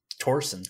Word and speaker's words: Thorsen: he is Danish and I think the Danish pronunciation of that last name is Torsen kind of like tour now who were well